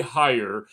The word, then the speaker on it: Heyer: Uh, today I have a very special guest, Gary Hire. Right, that's how I uh pronounce it.